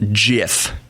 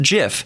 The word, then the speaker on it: GIF: me tell you why it is not the G as in giraffe if it was giraffe